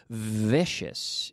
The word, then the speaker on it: vicious: Be careful with the pronunciation here. Vicious. No es vicious, sino vicious. Vicious. The secret to a good V, ladies and gentlemen, pay attention. Pay attention. Are you listening? The secret to pronouncing the V in English. Okay, I'm going to tell you the secret. Pay attention. The V is secretly the same as an F. It's a vocalized F.